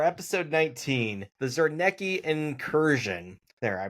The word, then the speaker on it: Zarnecki: The Zernki incursion. There I pronounced it right this time.